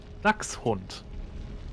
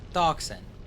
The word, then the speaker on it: Dachshund: No, the X-Bun because it's based on it's ducks, The like the Dex Dachshund? Dachshund. The Dachshund? Dachshund. I don't think you're saying that right. I am because it's the German word.